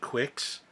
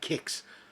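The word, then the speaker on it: Qix: Pacman kicks you know for years I called it Quicks I was pronouncing the que I didn't no idea you're supposed to pronounce it with like K kicks Quicks that's a cereal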